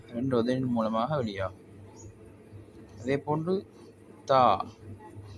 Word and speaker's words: ت: அதேபோன்று தா தா நாவின் நுனி நாவின் நுனி முன்பல்ல பின்பகுதியில் படுவதால வரும்.